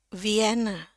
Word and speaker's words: Vienna: Jadi kalau kita baca ya ini sama aja nih mau Inggrisnya Inggris Amerika ataupun Inggris British dua-duanya sama aja. V N ya ini masih saya pisah-pisah dulu. V N E. Oke sekarang kita sambung Vien.